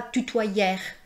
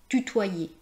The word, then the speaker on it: tutoyer: Les deux lettres e plus r c'est pas \nɛ.twa.jɛʁ\, c'est pas \ty.twa.jɛʁ\, c'est pas \mɑ̃.ʒɛʁ\ c'est \ne.twa.je\ \mɑ̃.ʒe\ \ty.twa.je\ Je vous invite à